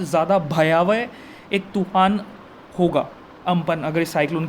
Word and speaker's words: Amphan: ये जो AMPHAN है, हम इसे प्रोनाउंस करेंगे अम्पन, UMPUN, अम्पन। ठीक है, एम्फान नहीं बोलेंगे हम इसे। एक्चुअली जो इसका प्रोनाउंसिएशन है दैट इज़ अम्पन।